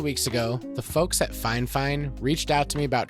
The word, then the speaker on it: Fifine: budget-friendly microphone options okay I know that their name looks like fafine or fifine but in my correspondence back and forth with them about their microphones they assured me the pronunciation is fine fine so don't give me